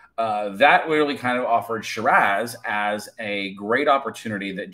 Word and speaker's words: Shiraz: But it's Shiraz if you're going to pronounce it like an Aussie. So be expecting to hear that from time to time. My California accent will slip in there, and sometimes it's Shiraz, but, you know, like, for sure.